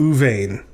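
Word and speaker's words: רְאוּבֵן: u vane all right at the beginning of a word a dog is vocal so that's our first syllable the aleph followed by a shurek is our second syllable oo and then vein at the end is our third syllable right this is a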